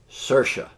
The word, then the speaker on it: Saoirse: name right Saoirse Roman I looked this up it said it rhymes with inertia Saoirse so Saoirse Ronan plays